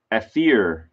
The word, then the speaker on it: Ethier: Oh, it's Ethier. How nice that they tell you how to pronounce his name.